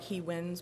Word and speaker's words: Hewins: Hewins. It's spelled like he wins, but it's pronounced Hewins.